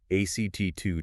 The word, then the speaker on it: ACT2: Well, that led directly to the UK ACT2 trial. Remember, pronounce it like the word ACT. ACT2.